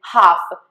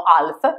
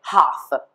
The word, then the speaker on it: half: Piccola notazione, si legge bene l'H che è aspirata, mentre non si legge assolutamente la L. Infatti devi dire half. Molte persone dicono half, attenzione che non si dice così, si dice half.